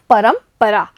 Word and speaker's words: परंपरा: देखिए बच्चों यहाँ पर जो रे की बिंदु है यानी रे के ऊपर जो बिंदु लगी हुई है उसका उच्चारण होता है आधा म, तो इसे बोलेंगे हम परंपरा।